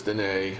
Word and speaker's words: Dîner: And it's DINE. It's spelled like dinner, but it's Dîner Okay.